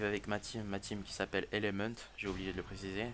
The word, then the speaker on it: Element: Bon, après, live avec ma team qui s'appelle Element, j'ai oublié de le préciser. C'est comme un élément en français, sauf que nous on le prononce en anglais parce qu'on est des beaux gosses. Donc là, Element, voilà.